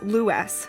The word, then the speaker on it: Lewes: the swans and yes that is Lewis not lose as is commonly mispronounced the Americanized pronunciation of